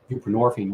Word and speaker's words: buprenorphine: It has roots, in the 70s and whatnot, and just replace your narcotic with something else, whether it's Suboxone, which is buprenorphine, rhymes with morphine, or methadone, ditto, and